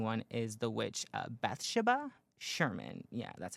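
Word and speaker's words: Bathsheba: Um, and the demon inside of the Conjuring one is the witch, uh, Bethsha Sherman. Yeah, that's how you say it. Beth Shabba Sherman.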